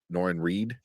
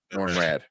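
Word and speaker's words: Norrin Radd: know as uh uh was that noren Reed she is going to be nor rad sorry not Reed rad um she's gonna be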